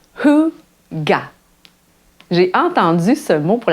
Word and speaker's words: hygge: Ça se prononce Hygge.